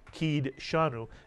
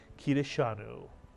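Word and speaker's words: קִדְּשָׁנוּ: doid has a pronounce we wouldn't say K shanu and you'll hear many people say that but the actual pronunciation of this word is kidanu nitsan and kadosh is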